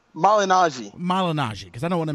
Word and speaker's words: Malignaggi: This whole thing involving, how do you pronounce Paul's last name? Malignaggi, because I don't want to mispronounce it.